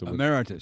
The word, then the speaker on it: Emeritus: Emeritus.